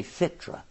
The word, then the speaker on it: fitra: They say fitra. Okay. Did I say it right? Yes, fitra. fitra.